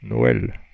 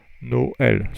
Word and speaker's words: Noël: that means that those 2 vowels have to be pronounced separately. So inu, I. A very good example is Noël, which is very apropos. Noël. So you have 2 vowels, and because they are pronounced separately, you put the trema on the second one, the last one.